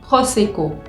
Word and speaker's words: prosecco: yo voy a decir prosecco, prosecco. Entonces se dan cuenta que yo acá tengo dos veces la letra O y se pronuncian de formas diferentes.